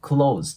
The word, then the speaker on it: close: なんですけどこれよく皆さんね cles て感じで発音される方は多いんですけどこれね僕も動画で見たことあるんですけどほとんどあの閉めるとかっていうねクーズと同じ発音でいいっていうのをねえネイティブの動画で見たことがあるのでもうそのまま Close でオですで今回はね